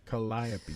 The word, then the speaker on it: Calliope: and that that uh audience especially losing the calliope stage i just said it right i've been